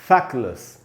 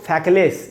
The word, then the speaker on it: feckless: इसको फैकलेस ऐसे नहीं पढ़ना है हमको। कैसे पढ़ेंगे? मैंने इधर लिखा है प्रोनाउंसिएशन, फै में जो ए है वहीं पर स्ट्रेस है, वहां ज्यादा रुकना है हमको। अब पढ़ेंगे फैक्लस, लस, लेस नहीं है, लस है, फैक्लस।